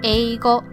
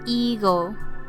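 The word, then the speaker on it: えいご: It should be eigo, not ego, because sometimes I hear it that way.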